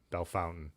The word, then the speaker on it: Bellefontaine: Now, did I say Bellefontaine? I'm watching the Tour de France right now, so I'm trying to get my Western European accent on everything I say. Bellefontaine. Belle Fountain.